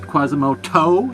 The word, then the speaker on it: Quasimoto: he is Quasimoto now why am I pronouncing it Quasimoto as in toenail well uh typically the